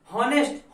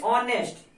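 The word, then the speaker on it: honest: हॉनेस्ट। हॉनेस्ट नहीं, क्या पढ़ेंगे? ऑनेस्ट। क्या पढ़ते हैं इसको? ऑनेस्ट, ये पढ़ते हैं।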